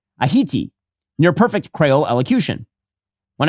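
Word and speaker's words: Ayiti: Mandani pronounced the island's name Aiti near perfect Crayole elocution.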